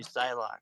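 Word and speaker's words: Psylocke: you gotta definitely do Psylock, man. If I'm saying that right. Yeah, you're saying it correctly.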